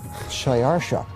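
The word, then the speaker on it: Xšayāršā: His Persian name, in Old Persian, which is his original native language, is Shayarsha.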